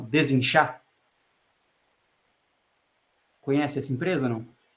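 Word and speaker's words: Desinchá: É Desinchar. É como se fala desinchar, só que o char no final é chá, né? De chá mesmo, de chá verde e assim por diante.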